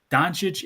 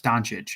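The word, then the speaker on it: Dončić: Donic is probably the easiest last name to pronounce. It's like not hard. It's Donich. It's not like You know what I'm saying? It's not like a hard Yeah. Like it's just weird how they say donic.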